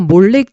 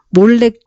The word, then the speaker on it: 몰렉: 벗어나서 야외 하나님도 섬기고 몰렉 섬겼다고 볼 수 있습니다 스발 와임 사람들이 섬기던 신의 이름이 아드람멜렉 아남 멜렉이라는 것은 원래는 신의 이름이 멜렉 있데 의도적으로 이스라엘 사람들이 몰렉이라고 발음하게 되었다는 그런 견해를 지지해 줍니다